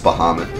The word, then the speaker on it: Bahamut: like nice is we have nothing it's pronounced Bahamut according to Alona Final Fantasy and will